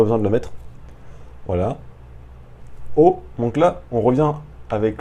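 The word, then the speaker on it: を: O, donc là, on revient avec le même mot, le même petit mot. O, pareil, il ne se prononce pas wo alors que c'est marqué wo, il se prononce o.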